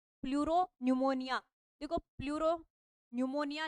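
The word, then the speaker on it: pleuropneumonia: है pleuro निमोनिया देखो pleuro निमोनिया निमोनिया का जो नाम है ना वो पी से स्टार्ट होता है इसमें पी साइलेंट रहता है इसलिए प्लूरोन निमोनिया लाइक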